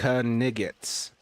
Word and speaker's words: knight: Was it the ancient pronunciation of the word night as knigets? Technically, that part was accurate, which shocked me when I found out. Perhaps not the full pronunciation, but pronouncing the K. Apparently, it used to be a thing.